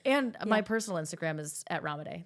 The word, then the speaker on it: Ramadei: as well right and my personal Instagram is ramade it's my last name r a m a